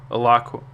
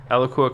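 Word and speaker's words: Alaqua: uh which is awesome a lakua i think it's the actual way to pronounce it eloqua cox um in real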